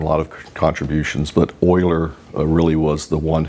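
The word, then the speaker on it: Euler: It's called Oilers's constant and Oiler is spelled E U L E R.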